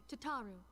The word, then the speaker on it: Tataru: It's like, ta-ta for now.